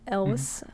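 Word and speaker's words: Cary Elwes: who is led by jonas miller played by carrie elvis is that how you pronounce it yes yes that's how that's how i've grown up pronouncing it elvis okay uh who he is in it for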